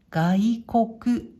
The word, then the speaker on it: 外国: これは外国、外国、外、国。